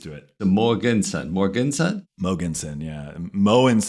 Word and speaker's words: Mogensen: of people make it Morganson so I'm used to it so Morganson Morganson mogenson yeah moon is actually how you pronounce it in Danish which is where my father was born and raised so it's a good